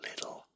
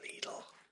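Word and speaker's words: Lidl: it is little I do call it little it's just on YouTube I often hear it referred to as leadle so I'm just going to say it little which is kind of how we pronounce it here um um I do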